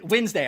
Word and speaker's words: Wednesday: head yeah and then Wednesday I'm like who the decided that's how you spell Wednesday There's No D oh the D is silent I'm like [ __